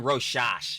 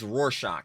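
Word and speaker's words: Rorschach: I was saying roash because yeah, truly can't grammar for It's roarshock. Yeah, but yeah, it's the political roar shock test.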